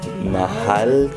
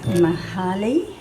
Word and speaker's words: mahal: Mahal kita. Mahali. Mahal. Mahal. Mahai. Yep. So M-A-H-A-L. Mahal. Mahai. Hal. Hey. Hal. It's like you're saying Hallie without the E.